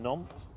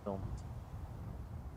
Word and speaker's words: Nantes: So just coming over the threshold here, we have Ryanair flight 3544 coming in from Nantes in France. Sorry, I should pronounce the S's. Nantes.